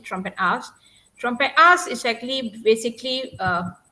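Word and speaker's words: Trompenaars: or trumpen ass yeah Dutch pronounce it trompetas trompetas is actually basically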